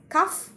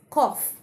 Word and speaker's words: cough: pronunciation of this word do you pronounce this word as cff well the correct pronunciation of this word is cough I repeat cough so next time when